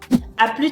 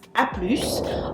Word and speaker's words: à plus: The same goes for à plus tard, which becomes à plus. The only thing is that you need to make sure you pronounce the final consonants. Otherwise, it won't make any sense and people won't understand you.